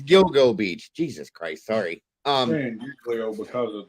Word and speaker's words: Gilgo Beach: Serge said it right Gil Beach I don't know why I'm saying Giglio gilo like that seems like there's too many yeah yeah it's Gilgo Beach Jesus Christ sorry because